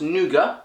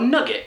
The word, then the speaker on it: nougat: Is it pronounced nougat, which is how I call it, or nugget?